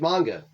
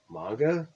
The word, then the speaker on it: manga: well i guess i'm literature well i like manga manga hey why'd you say it like that if